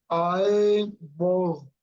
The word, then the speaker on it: eyeball: But to be 3 syllables, it would be eyeballi. wouldn't it? Okay, so But it's actually 2, isn't it?